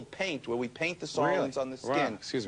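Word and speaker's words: psoralen: Sorolin is a word that starts with P, but it's pronounced with an S.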